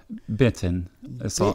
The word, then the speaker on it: Benton City: How is it pronounced for real? Benton.